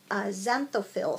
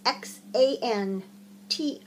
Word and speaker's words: xanthophyll: members of the group had been knitting these xanthophil socks. Try saying that 5 times fast too. It's spelled with an X. Xanthophyll.